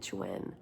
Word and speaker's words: chuen: Chuane if if I guess if I get a Spanish pronunciation that e but it seems like he pronounces it chuen. Chuen.